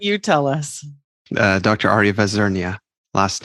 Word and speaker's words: Vazirnia: has given me permission not to try to mispronounce his last name why don't you tell us Dr Arya vazernia last name vesernia well it's not so bad thanks for having